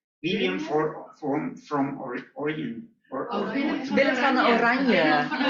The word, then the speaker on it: Willem van Oranje: Or, Willem van Oranje. Willem van Oranje.